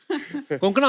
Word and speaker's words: Konkona: पर मुझे लगता है कंकना आपको जब अलग-अलग स्टेट के लोग मिलते हैं तो वो आपका नाम सही से प्रोनाउंस करते हैं आई एम श्यर अगर आपको कोई पंजाबी मिले वो हमेशा कंकना बोलेगा कंकना कोंकना क्यों साउथ में तो ककना भी बोले आई यू टू